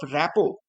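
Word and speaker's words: rapport: अगला question, the interviewers describe these chats as essential in building up रैपो। इसको रैपो पढ़ते हैं, are silent होता है, एंड ट्रस्ट।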